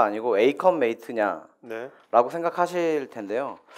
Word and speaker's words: 에이컴메이트: 근데 보통 이게 어컴퍼니고 메이트의 합성인데 왜 어 어컨 메이트가 아니고 에이컨 메이트 네라고 생각하실 텐데요 아 저도 뭐 사실 저